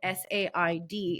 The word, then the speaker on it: said: first time a student asked me why said s a i d is pronounced said and I was like huh I